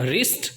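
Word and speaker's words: wrist: उसके बाद रिस्ट यानी कलाई होता है, आप देख सकते हैं W साइलेंट है।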